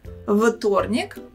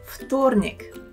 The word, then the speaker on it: вторник: And now please think, is it вторник or вторник? The correct pronunciation is вторник. Вторник. В in this word we should pronounce as фу.